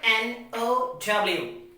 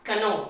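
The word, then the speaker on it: know: with some examples so k n o w so we will pronounce it what no not canon it's what no now the next example we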